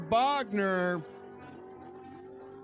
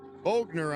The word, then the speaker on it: Bogner: Double 05 light for Bogner. Bogner, I should say. I'm saying it wrong again, and he gets the win.